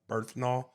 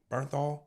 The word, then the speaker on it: Bernthal: Have you guys seen the TV show The Punisher with John Berthnol? Is that how you say his name? Bernthal.